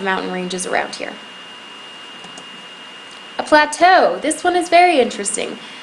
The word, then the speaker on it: plateau: ok so there's a plateau at the top plateau that's how you say it next we have